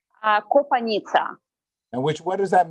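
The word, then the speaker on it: Kopanitsya: difficult for pronunciation because it's kind of uh from very typical old ukrainian means like river in the forest kopanika and now we pronounce like copaniza okay and my last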